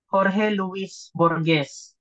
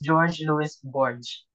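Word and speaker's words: Jorge Luis Borges: specifically this author His name is Should Be pronounced As Jorge Jorge Luis borgz But since we are using ng English um American so we can read this as George Lewis borge from Argentina so his work has been described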